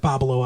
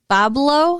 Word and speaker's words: Pablo: babalo island aren't you pablo yeah no problem not bob allo but pablo sure what's the difference what am i saying you're adding an extra syllable it's bubble it's pablo pablo two syllables bob lowe